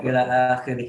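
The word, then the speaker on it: إلخ: Cuman jangan dibaca ilah gitu. Bacanya Anda baca ila akhirih gitu.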